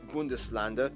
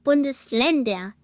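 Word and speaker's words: Bundesländer: federal republic which has 16 smaller states or bundeser each with its own constitution. Good closing h it's really pronounced bundes lander name land for itself it's good pronounced and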